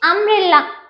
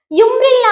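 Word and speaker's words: umbrella: Okay next అంబ్రిల్లా యుంబ్రిల్లా అంటామా even though it is started with you letter but మనం ఏమంటాం అంబ్రిల్లా అంటాం యుంబ్రిల్లా అన్నాం సో అంబ్రిల్లా అంటే ఆ తో పలికింది.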